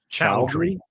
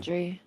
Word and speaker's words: Chaudhry: Chowdhury, by the way, it's pronounced Pride Chowdhury. Chowdhury. It's Indian. Chowdhury.